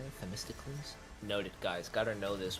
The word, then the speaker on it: Themistocles: Themistocles? Noted, guys. Gotta know this when I make the script because I can't butcher these names.